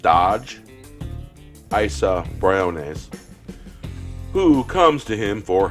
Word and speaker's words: Isa Briones: That's pronounced Dodge. Isa Briones.